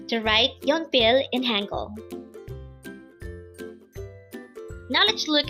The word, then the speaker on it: 연필: YEONPIL. YEONPIL. This pronounces a two-syllable word. The first syllable is yeon, second syllable is pil. Pronounce it with me. YEONPIL. So YEONPIL is simply the Korean term for a pencil.